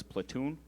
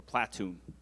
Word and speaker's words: platoon: The word is platoon or platoon.